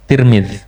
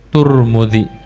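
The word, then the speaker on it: ترمذي: tir eh benar benar kasrah ta dan mim tirmid walladzi yaquuluhul mutqinun ahlul ma'rifah bidamihima dan yang dikatakan oleh orang yang itqhan ahlul makrifah dibacanya turmudzi dan setiap satu itu yaakulu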